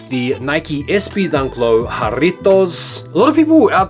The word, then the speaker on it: Jarritos: and take notice of the correct pronunciation of Jarritos. Every time you hear a content creator talking about these, you are just waiting, listening patiently for the rolling of that R.